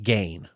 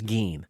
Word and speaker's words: Gein: say his name because I had thought it was one of those things like EIN spelled Ain. Right. Like Gein, but no, it's Gein.